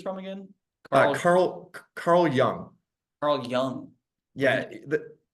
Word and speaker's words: Jung: Carl Jung. Yeah. With a J, but it's pronounced with a Y.